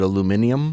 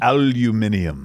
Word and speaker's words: aluminium: i'm just saying because i should have pronounced it aluminum aluminium aluminium yeah we have aluminium here